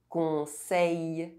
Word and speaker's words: conseil: EIL and EILL are pronounced A. Soleil. Conseil. Abeille. Bouteille.